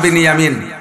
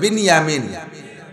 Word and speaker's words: বিনিয়ামিন: 2 ভাই, আপন 2 ভাই, ইউসুফ আর বিনিয়ামিন। বনিয়ামিন না, একটু উচ্চারণ শেখেন। বিনিয়ামিন শব্দটা কি গন্ত? বিনিয়ামিন। আর বনিয়ামিন কেউ নাম রাখলে বনিয়ামিন বললে বিনিয়ামিন।